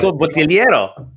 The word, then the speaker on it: Bottigliero: Yeah, the G is silent though. So Bottigliero.